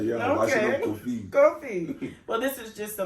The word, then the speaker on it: Kofi: I say Kofi.